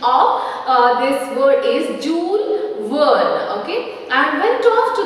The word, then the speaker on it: Jules Verne: Okay, after reading the book written by Jules Verne, okay, here the pronunciation of this word is Jules Verne, okay, and went off to the moon.